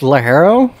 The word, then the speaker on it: ligero: Actually, it's Lajero.